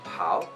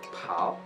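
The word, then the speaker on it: 跑: Tapi kalau misalnya P, jadi misalnya kita mau ngomong lari atau pau, nah kita ngomongnya ada hanya pau, tetap P gitu.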